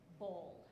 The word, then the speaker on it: boiled: You need to think of this word as bold, bold. You can think of it like bald, as that will get you close to it.